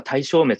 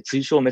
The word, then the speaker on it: 対消滅: てきますがこれは実は体消滅じゃなくて対消滅って読むんですよとかね